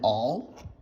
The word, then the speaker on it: awl: to talk about is an all that's spelled awl um and all is basically